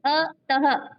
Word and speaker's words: अतः: जैसे अतः, पुनः, नमः आदि, इसका उच्चारण हल्के ह की तरह होता है, जैसे अतः, हा जो आ रहा है हल्का सा आ रहा है, पुनः, न मह।